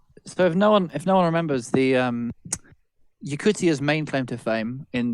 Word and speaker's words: Yakutia: Also, a lot of you pronounce it Yakusha. It's Yakutia.